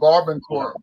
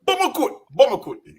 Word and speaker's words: Barbancourt: Oh, Barbancourt. Barbancourt. Yeah, Barbancourt. We call it we pronounce it Baramakut, with the accent, with the Haitian accent, Baramakut.